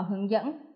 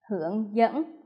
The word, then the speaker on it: hướng dẫn: Hướng dẫn. Các em lưu ý vân ân, thanh ngà.